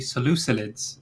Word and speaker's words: Seleucids: It's actually Seleucids, apparently. No, it's not. There is no Ew. L in the end there. Ew. It's either Seleucid Let's not or start that Seleucid. again.